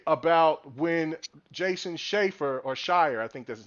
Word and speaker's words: Schreier: I think that people do forget about when Jason Schreier, or Shire, I think that's his name, Shire. Was it Shire or Schroeder? I don't know how you say it. Schreier, yes, Schreier.